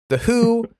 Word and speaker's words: Hu: Uh, nothing more from Ashes to New Who. Not the um the one you're thinking of, but a Mongolian band that still rocks but is spelled HU instead of W.